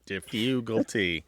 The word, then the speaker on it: defugalty: never heard it before defugalty defugalty I think Martha's got good news for you Alice yeah it's an intentional mispronunciation of the word difficulty okay that was what